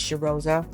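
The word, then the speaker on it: Cheirosa: The correct pronunciation actually is Cheriosa.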